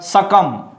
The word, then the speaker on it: succumb: And next word, succumb, don't say succumbed, you know. Here is B is silent, so it is means death, you know.